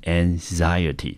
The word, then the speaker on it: anxiety: 好，这个 an 也是一个音节，对不对？好， xi 一个音节， a 一个音节， ty 念成 t，整个字我们就念成 anxiety，重音落在第二个音节。好，那 anxiety 这个字呢，它可以当作不可数，也可以当作可数，中文翻成焦虑或者是忧虑。我们看英文的解释。